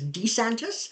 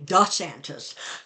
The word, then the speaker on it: DeSantis: has shifted the pronunciation at one point it was DeSantis and now he's saying da Santas um and it's it's